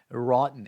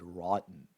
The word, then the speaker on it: rotten: Rotten. And pay attention to the way that in American English you pronounce that word rotten, rotten.